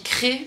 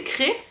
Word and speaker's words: Crest: On dit Cré, mais ça s'écrit C-R-E-S-T. Et moi, vu que je viens du sud-ouest, je prononce toutes les lettres que je vois. Mais non, c'est Cré.